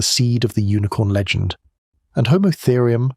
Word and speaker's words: Homotherium: And Homotherium, pronounced Homotherium, the scimitar-tooth cat, around 400 lb, long in